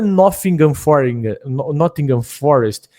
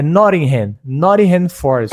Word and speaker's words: Nottingham Forest: Não é Nottingham Forest, é Nottingham Forest.